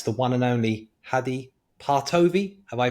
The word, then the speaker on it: Partovi: being and that's the one and only Hadi partovi have I pronounced the name correctly yes great even though